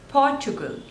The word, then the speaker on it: Portugal: Poland Poland next is Portugal Portugal so there are three slavors and the stress is on the first one Portugal Portugal Portugal Portugal next is Qatar